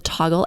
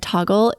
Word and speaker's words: Toggl: personally love and use the toggle app it's spelled t o g l it is a free